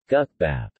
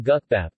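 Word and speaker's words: 국밥: Gukbap. Gukbap, gukbap Korean pronunciation, K-U-K-P-A-P, are dishes developed from guk.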